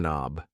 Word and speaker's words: knob: This thing here is a doorork knob. A door knob. Yes. The K in knob is silent.